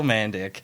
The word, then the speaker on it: Mandik: welcome to the show you know man and Dick it's pretty pretty simple you in the email you spelled it phonetically for me and I still just couldn't it's mandic so um but I